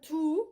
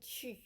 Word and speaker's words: tu: We're not doing tu, which is English. We're saying tu. So say E, and you remember where your teeth are, and your tongue is E, and then the only thing you change is you pucker your lips. E does not exist in English, so you need to make some effort to do that.